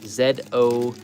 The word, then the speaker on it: ZO: All right, so this is a 3 and 3/4 highly poseable Common Rider Zo Zo. It's pronounced Z O uh action figure.